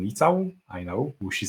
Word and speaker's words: Licau: not usual so yeah to pronounce it correctly i'm litau i know who she